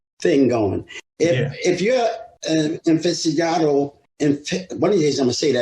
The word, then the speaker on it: aficionado: If you're an aficionado, one of these days I'm going to say that right. How do you say that? Aficionado.